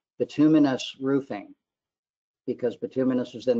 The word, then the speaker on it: bituminous: because Bin's a noun or you would say bituminous Roofing because binus is then the adjective for